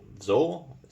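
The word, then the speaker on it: wzór: And if you're not familiar with Polish bayonets, the WZ stands for Zor, or that's the closest I can come pronouncing it.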